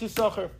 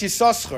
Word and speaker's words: Yissachar: How do you pronounce Yissachar? Ben Osher said the second sin is silent.